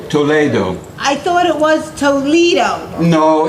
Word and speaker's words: Toledo: You see, Castilian and Spanish you pronounce different than English.